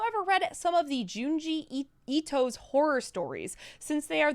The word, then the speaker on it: Junji Ito: Junji Ito. Jungi, or Ji rather, sorry. Ito. Junji Ito.